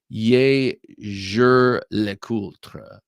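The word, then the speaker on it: Jaeger-LeCoultre: It's actually pronounced more like "Ye jure le coultre."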